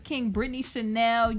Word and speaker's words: KingBritneyChanel: Excuse me, I almost said my name wrong. It's KingBritneyChanel.